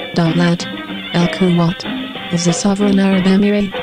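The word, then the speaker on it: دولة الكويت: The state of Kuwait, Arabic, pronounced Dawlat al-Kuwait, is a sovereign Arab emirate bordered by Saudi Arabia to the south and Iraq to the north and west.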